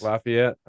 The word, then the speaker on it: Lafayette: Lafayette.